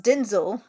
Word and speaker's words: Denzel: But yeah, apparently his name is pronounced Denzel.